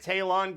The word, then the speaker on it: Taylon: We will see Dillon Gabriel and Taylon Green.